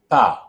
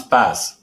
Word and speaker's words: pas: And before that syllable is the word pas, which if you don't know, you would pronounce pass. But we have eliminated the S. So what is left is a vowel sound. Pa. The mouth stays open.